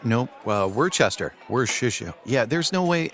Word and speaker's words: Worcestershire: Like easier than pronouncing Worcestershire? Nope. Worcester.